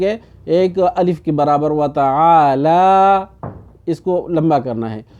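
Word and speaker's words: وتعالى: ٹھیک کرنے کے لیے کچھ لوگ پڑھتے ہیں وتعال جدک، وتعال جدک، اب یہاں پر یہ نہیں ہے بلکہ وتعالی، لام کو کیا کرنا ہے اس کو لمبا کرنا ہے، ٹھیک ہے،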